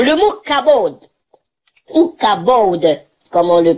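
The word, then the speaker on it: כבוד: cache derrière alors le bouc a bold ou cabaude comme on le prononce en hébreu qu'aborde setteuse la gloire de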